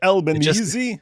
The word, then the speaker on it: Albanese: And then, but you have to pronounce it Albanese like an Italian.